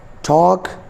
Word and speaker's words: talk: For example, I have three words: walk, talk, chalk. L is between A and K, so that is why we are not pronouncing L here. L will be silent.